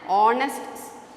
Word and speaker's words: honest: though it has the word letter m you pronounce it as m e m so you should add an mla an honest shopkeeper an hour an honest person it's an